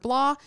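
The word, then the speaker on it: blaa: And we should point out that blah is spelled B-L-A-A. Yes. Yeah, so you pronounce it blah, but it's like blah.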